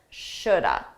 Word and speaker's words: should: Notice that L is silent. Shoulda.